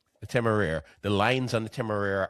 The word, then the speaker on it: Temeraire: It feels a little shapeless also, while the lines on how do you pronounce it? The Temeraire. The Temeraire.